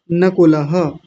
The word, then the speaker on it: नकुलः: हो गई दूसरी देखिए नकुल बिटिया अभी थोड़ी देर पहले बोल रही थी नकुल नकुल बड़ा ऊ बना दिया बड़ा ऊ नहीं बनाएंगे जैसा है वैसा बोलेंगे छोटा ऊ है तो क्या होगा नकुलः उसके बाद है सह